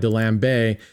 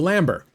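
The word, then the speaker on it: D'Alembert: I kept calling Dambeay. And then I asked our clever bet boys, George, uh, who they're French. I said, "Am I pronouncing this right?" He's like, "No, dumb American." No, he didn't say that. He was right. The Lambert. The Lambert.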